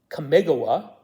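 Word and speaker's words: Kamigawa: to be available and kamagawa or as West inter boys pronounces it commigawa which may be correct too just like may be correct for Alara um they both sound really good so I'm not sure which is correct um those bundles which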